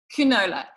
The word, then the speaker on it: Qnola: like how do you say this you know canola yeah so no TV that and I just